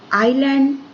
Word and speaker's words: island: Then handsome, this is not handsome, this is handsome, D is silent here. Height, E. Knife, K. Business, I. Honest, H. Muscle, C. Island, S.